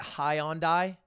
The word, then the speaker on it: Hyundai: In Australia, we pronounce it Hyundai.